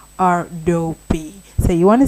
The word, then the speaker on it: Adobe: Well, anyway, Adobe is not pronounced Adobe. It is pronounced Adobe. Yes, exactly. You heard me correctly. Adobe.